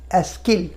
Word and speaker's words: est-ce qu'elle: উচ্চারণটা কী হয়ে যাবে? এস্কো ইল, এস্কিল, এস্কো এল, এস্কেল, একসঙ্গে দুটো উচ্চারণ হয়ে যাচ্ছে। এস্কিল পার্ল, এস্কিল পার্ল, এস্কেল পার্ল, এটা মাথায় রাখতে হবে আমাদের।